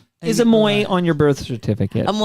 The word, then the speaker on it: Ammoye: to search for is ammoy. A m o y e. So I thought silent. The e is silent.